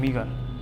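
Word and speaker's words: meager: तो इसका होता है मीज़र, क्या बोलते हैं, मीगर, मीगर, मीगर, मीगर क्या बोलते हैं, मीगर। गूगल बोलता है इसको मीगर, ठीक है।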